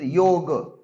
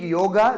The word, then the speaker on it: yoga: So it is yoga, but the spelling will be yoga, because ga is complete ga, it is not half ga. So if you change yog yog, then it is wrong spelling. Then it becomes wrong spelling. But if you speak yoga, then it is the wrong pronunciation.